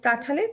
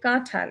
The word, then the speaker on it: কাঁঠাল: নাক দিয়ে একটা নেজাল সাউন্ড হবে চাঁদ তারপরে কাঁঠালের কাঁঠাল হ্যাঁ দেখা যায় যে আমরা যখন এভরিডে কথা বলি এই চন্দ্রবিন্দুটা অত উচ্চারণে আসে না কিন্তু যখন শুদ্ধ উচ্চারণ আমরা